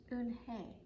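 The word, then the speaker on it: Unhei: to joey and she nodded slowly yes it's pronounced un hey and it means grace mr kim added oon hey joey said slowly and this time perfectly that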